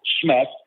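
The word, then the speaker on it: SHMEC: I I call it schmeck s h NEC it's an acronym pronounced schmeck it stands for Sleep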